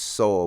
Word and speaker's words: Sowell: Thomas Sowell. His name is pronounced Sowell, but it's spelled Sowell.